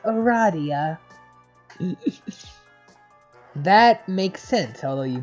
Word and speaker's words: Aradia: because you mean illegal corrects you it is pronounced Aradia that makes sense although you just met you